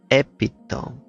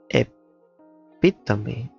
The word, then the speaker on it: epitome: but turns out it's epitome. Ah, interesting. I learned too. Epitome, that's super funny. That's sounds like funny. Epitome, like childish, with stress on the second syllable.